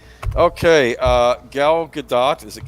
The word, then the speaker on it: Gadot: glitch it's a feature okay uh Gal Gadot is it Gadot I believe yes I believe that's how she pronounces it Gal Gadot is keeping the hope